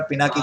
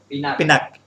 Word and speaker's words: पिनाक: पिनाक, पिनाक, yeah, it's like, you know, in Sanskrit we every word end with a, but that doesn't mean you have to pronounce it, it's something like that.